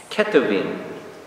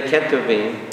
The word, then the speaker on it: Ketuvim: Ketuvim.